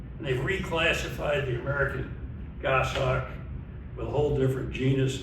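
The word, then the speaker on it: goshawk: pronunciation guide here because people see that and they go, "Is that a Gosh hawk?" Well, it's actually Goss hawk that came from goose hawk actually originally and they've reclassified the American Goss hawk with a whole different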